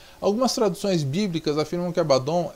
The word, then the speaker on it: Abaddon: De acordo com o léxico Brown Driver Briggs, o hebraico Abaddon, que poderia ser pronunciado em hebraico Avadon, é uma forma intensiva